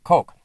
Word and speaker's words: Koch: When you hear the Koch brothers, you're referring to Charles and David Koch. It's spelled Koch, but it's the Koch brothers.